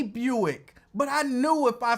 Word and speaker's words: Buick: If you teach him the right way to say Buick, I'm pretty sure he won't say Bruick anymore.